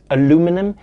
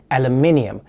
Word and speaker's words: aluminium: rest of the segment i'm going to be pronouncing it aluminum even though the correct pronunciation is aluminium but we had a vote and all the